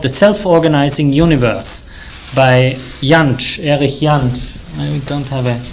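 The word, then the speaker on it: Jantsch: The self-organizing Universe by yanch and we don't have a Blackboard it's spelled j-a-n-s-c-h yanchen it's called the self-organizing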